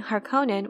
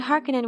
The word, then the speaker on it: Harkonnen: place emphasis and inflection for the longest time i preferred using harkonnen when referring to the house and harkenin when it was referring to an individual that was just my preference though however now in